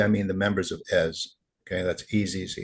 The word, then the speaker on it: Ezz: So, the question we're asking, and by we, I mean the members of EZ, okay, that's easy. It's pronounced Ez.